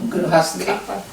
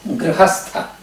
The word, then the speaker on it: Grihastha: Grihastha. How do you say it? Grihastha Грхаста.